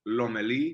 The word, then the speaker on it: Lomelí: Am I pronouncing it? Lomeli? Yeah, man, look, feel free to call me. It's Lomeli.